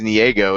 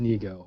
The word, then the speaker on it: Niego: I looked it up in the media guide, and it says Niego in the pronunciation thing, but everybody's calling him Nego now, so I'm going to go with that. Harrison corrected everybody. It is Nego, apparently.